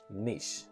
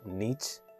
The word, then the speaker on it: niche: And the last word we have is niche. Some people pronounce it niche.